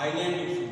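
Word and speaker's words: isle: बाद अब देखते हैं यस का उच्चारण नहीं होता सस य साइट होता है यस जो साइ होता है अभी आपने देखा सा आइल तो य पर उरण नहीं होता आइल बोला जाता आइसलैंड बोला जाता और इसको ही बता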